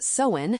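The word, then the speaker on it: Samhain: The crisp autumn air thickening with anticipation, mirroring the ancient Celtic festival of Somhain, pronounced sewen, which marks the end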